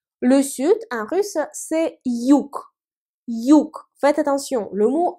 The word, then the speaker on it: юг: Le sud, en russe, c'est юг. Юг. Faites attention, le mot юг se termine par la consonne G, mais la consonne G à la fin des mots se prononce K.